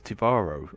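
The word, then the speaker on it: T'varo: It's a Tavaro light warbird. Designation IRW Shardar. They could be Tal Shiar. I've always been wondering how to pronounce that. So it's Tivaro.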